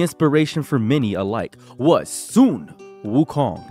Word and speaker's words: Sun Wukong: Wukong I keep seeing people say Sun Wukong and it's really messing me up mentally and emotionally and spiritually and it's messing up my brain it is Sun Wukong recently a game called